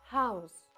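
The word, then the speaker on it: Haus: deen прикрашати будинок одразу звертаю твою увагу на вимову House House Так це ніби як легкий видих House це адвенткалендар міні-курс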